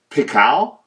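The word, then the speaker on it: pikal: the first for me this blade shape is actually called pical I want to say that's how you say it p i k a l um and it's uh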